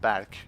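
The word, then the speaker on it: Berk: my real full name so it's Turkish so it's pronounced back it's not pronounced Burke but it's one of these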